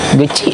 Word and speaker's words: Geci: Padahal maksudnya itu cuman kayak saya kira kecil lingkungannya kecil, tapi di situ pakai G bukan K. Geci gitu.